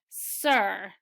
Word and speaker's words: sir: This word is sir. Ed named his horse Sir Thomas. Remember, when you see any one of these three murmur diphthongs, you pronounce it as ER.